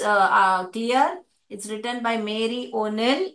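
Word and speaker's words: Neill: it's written by मेरी ओनिल इसको नल करके पढ़ते हैं एन ई आई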